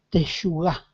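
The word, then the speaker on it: תשוקה: Dice teshugá, así se pronuncia.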